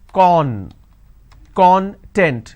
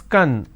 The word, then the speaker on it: content: i pronounce this as con content it means ingredient or index when i pronounce this as kan that means happiness or being happiness or being self-satisfied so these are the